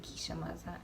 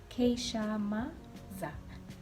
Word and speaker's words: Keisha Mazza: it has the pronunciation because some people call me kisha maza and i know keisha okay keisha ma za then but i think